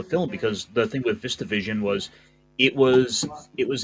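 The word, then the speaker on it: VistaVision: Its camera technique is very groundbreaking for its time to I think it's called viva vision is that the right way to pronounce it vista vision and it is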